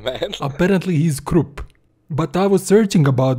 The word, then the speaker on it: Kruppe: So, E is kind of swallowed in his name.